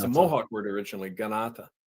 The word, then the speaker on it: Kanata: Ganata. K is a pronounce.